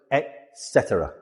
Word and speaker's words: etc.: Usually we see it written as etc. But we pronounce it etc.